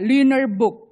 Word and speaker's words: Lüneburg: Yang di titik 2 itu bacanya kayak gitu. Ayo ikutan. Susah. Ya, Lüneburg.